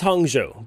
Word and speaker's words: Hangzhou: I spent this entire trip completely butchering the pronunciation of the city we're headed to. It's Hangzhou, but you'll know what I mean.